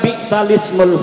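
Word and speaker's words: بِئْسَ الِاسْمُ: Dibacanya harusnya kalau lagi baca Quran sholat bi'salismu, tulisannya bi'sal ismu, tetapi karena di situ ada hamzahnya, hamzah wasal ismu, maka hamzahnya harkatnya dipindah kepada harkat yang sebelumnya yaitu lam.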